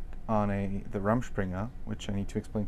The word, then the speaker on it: Rumspringa: I mean, was it like, do you go like on the Rumspringa, which I need to explain to people.